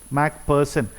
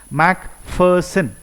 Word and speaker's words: Macpherson: Okay, Mac, you remove P, no, remove H and read Person, person. Okay, Macpherson. Okay, here PH both are there, so this should be pronounced as F. Macpherson.